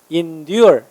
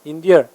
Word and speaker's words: endure: tolerate 얘는 endure 강세 이음절에 있어요. endure 참다 견디다.